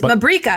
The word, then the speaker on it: Mabrika: Mabrika. Mabrika. Like paprika.